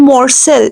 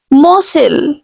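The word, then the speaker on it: morsel: में मसल कहते हैं people ूज to pronounce lovage sauce word रंग here L will be completely silent this is नॉट मोर्सल नो वे मसल the word will be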